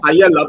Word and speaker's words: paella: You know the English call it paella because they can't pronounce two L's in Spanish is a I is a Y.